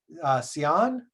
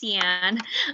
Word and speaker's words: Cian: I'm going to pronounce this wrong. Sion, what question? How do you pronounce your name? Hi, Dylan. That was close. It's pronounced Cian.